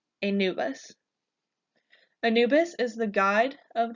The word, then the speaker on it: Anubis: Pharaohs next we have Anubis you can pronounce Anubis by breaking it down into a new bus Anubis Anubis is the god